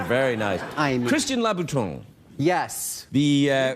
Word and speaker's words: Louboutin: the shoes are very nice I am Christian Louboutin yes the pronounce it correctly which is very good well